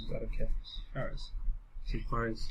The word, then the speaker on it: Juarez: Juarez. To J is Hold on. pronounced as a Y. Juarez.